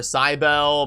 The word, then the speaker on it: Cybele: When I saw when the champion announced, I was like, Mother Cybele, Mother what?